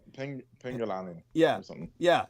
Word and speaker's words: Penanggalan: In some cases, but I will say this when it comes to Penanggalan or because I could never get the Southeast Asian pronunciation. Penanggalan.